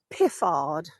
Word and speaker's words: Piffard: about a guy called Harold piffard that's a funny name to say and when I read it it's even weirder his surname is spelled p i f f a r d and he was actually